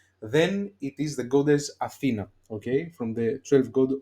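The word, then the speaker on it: Αθήνα: Athena, if the accent is in Ita, in E, Athena is Athens, the capital of Greece. If it was like Athena, Athena, you see my where I drop the accent to the last syllable,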